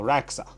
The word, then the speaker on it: Radxa: people are telling me that it's not pronounced raxa and they said no it is exactly how I was used to saying it so raxa okay that's how it is pronounced and I explained it in one of